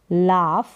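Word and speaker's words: laugh: मतलब हंसना क्या है लाफ हंसना उच्चारण देख सकते हैं जी एच का यहां पर फ करके उच्चारण हो रहा है तो कहीं पर जो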